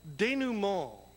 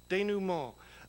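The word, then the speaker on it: denouement: word that we learned is this one it's pronounced de new mall de new mall it is and now this is the dictionary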